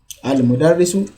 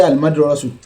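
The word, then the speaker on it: المدرس: Al-mudarrisu jadidun. Don't say al-madrasu or al-mudrisu.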